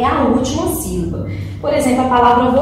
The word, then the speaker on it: sílaba: Por exemplo, a palavrinha sílaba, sílaba. Então, o pedaço aí, né, na sílaba que tem mais força aí, né?